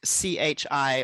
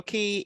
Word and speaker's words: qi: be in chinese so it's pronounced like c-h-i or c-h-e-e depending how you wanna um pronounce it um but yeah so chi or key is um essentially energy